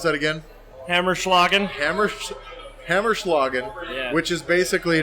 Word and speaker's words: Hammerschlagen: We do have the how do you pronounce that again? Hammerschlagen.